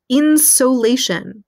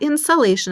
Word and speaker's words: insolation: why does that matter this new term called insolation not insulation i didn't misspell it that's insolation sol sol means sun this means how much